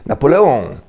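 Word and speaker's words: Napoléon: przykład jak nazywamy Bonapartego Napoleon No nie bo po francusku jest Napoleon z akcentem na końcowej sylabie i on na końcu a nie on Napoleon Ale dlaczego mamy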